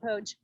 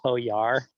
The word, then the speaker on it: Pojar: um we call it poge even though apparently it's actually pronounced poe yar we got corrected about